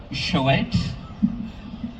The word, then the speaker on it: Shoet: Uh, Shoet, pronounced like boat show.